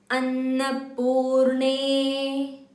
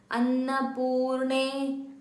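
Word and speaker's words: अन्नपूर्णे: Annapurne, it's not Annapurne, ne, no, it's ne, Annapurne, Annapurne. Anna, Anna, the na has to touch the tongue has to touch your teeth while pronouncing Anna.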